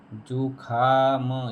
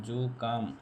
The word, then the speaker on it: जुकाम: जुकाम, जुखाम, ये गलत है, ये गलत है। जुकाम, जुकाम, ये शुद्ध, ये शुद्ध।